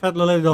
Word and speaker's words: Svietloladovka: can't pronounce that Odette's out of properly. earshot. Svietloladovka.